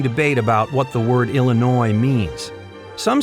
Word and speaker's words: Illinois: because we Lincoln believe Illinois is worth saving. And here's why. By the way, the S is silent, and there's an ongoing debate about what the word Illinois means.